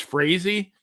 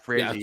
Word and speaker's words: Frazee: The Boston Red Sox owner, Harry, I guess it's Frazee, I believe it's pronounced. Frazee.